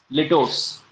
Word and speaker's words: litotes: एक चीज इसमें याद रखना ना कि अंडरस्टेटमेंट का ही एक वेरिएशन होता है लिटोस। लिटोस, LITOTES। लिटोट्स, स्पेलिंग नोट कर लेना, उसी के साथ ही नोट करना, LITOTES, लिटोट्स।